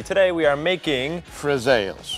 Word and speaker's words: friselle: more time so we can all get the pronunciation correctly today we are making frels frels yes also known as pepper biscuits Italian pepper